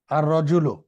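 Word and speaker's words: الرَّجُلُ: যেমন রজুলুন, আর রজুলু। তো এখানে রজুলুন শব্দটির প্রথমে যখন আলিফ লাম নিয়ে আসছি তখন এই লামটি কিন্তু উচ্চারণ হচ্ছে না, হয়ে পরবর্তী র অক্ষরটা কি হচ্ছে, তাসদিদ হচ্ছে।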